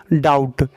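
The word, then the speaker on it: doubt: है थर्ड में डाउट डाउट को हम लोग यहां पे देखिए ओ को यहां पे ओ यू टी यानी हम लोग बी को साइलेंट कर देते हैं ओ यू बीटी यानी बी को हम लोग साइलेंट कर दिए मुका अक्षर कर दिए हैं तो ये हो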